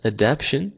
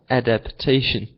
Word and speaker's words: adaptation: you for that Sahar just remember let not pronounce adaption but remember to say the TA adapation so say that again please adaptation okay excellent so of